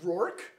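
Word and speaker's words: Roark: it yeah how do how would you pronounce is it roor it's a weird one to say r o a r k roor yeah this is an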